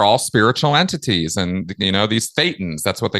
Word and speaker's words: thetan: And, these thetans, that's what they call them in Scientology, thetan. It's not a coincidence. It rhymes with Satan, but we don't have to go there today.